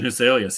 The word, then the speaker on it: Huselius: know how to say this guy's name Christian huselius Christian huselius yep you got it yeah so all all